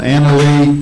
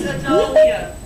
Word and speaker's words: Analia: Anna Lee Collins, screen printing. I was hoping she was here to see if I said it right. It's Analia.